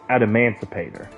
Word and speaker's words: Adamancipator: I believe it is pronounced Adamancipator.